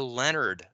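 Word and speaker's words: Lenard: There's something called the Leonard effect. It's spelled L-E-N-A-R-D.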